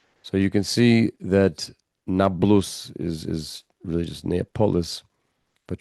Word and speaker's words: Nablus: Now, the reason why it is known as Nablus is because it is an Arabic pronunciation of the Roman Neapolis. The Romans renamed the town of Shechem Neapolis, which means new city, polis, right? Like metropolitan. But Arabic does not have a P sound in its alphabet, which is